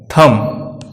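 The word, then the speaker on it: thumb: बी अक्षर दो case में साइलेंट रहता है, जब बी को वर्ड में एम के बाद रखा जाता है तथा जब बी को टी से पहले रखा जाता है। इन दोनों ही परिस्थितियों में बी साइलेंट रहता है, जैसे डेट, डॉट, डेटा, बॉम्ब, थम।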